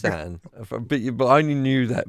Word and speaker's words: Isaan: it's Isaan, but I only knew that because I've listened to the song and he pronounces it in the song. So, but Isaan, anyway, yeah, okay.